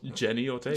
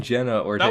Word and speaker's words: Jenna Ortega: Oh, Jenny Ortega. Jenny Ortega. I kept saying Jenna Ortega, that one's right? so easy, though. Yeah, it's just Jenna.